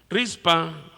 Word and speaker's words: Rizpa: Rispa, dice la versión 60, Reina Valera 60, otras versiones dicen Rispa con acento en la A.